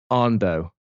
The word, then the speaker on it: Andoh: We have Johnny Boursiquot, we have Ashley McNamara, and we have Carmen Andoh. Is that right? Correctly pronounced, Carmen?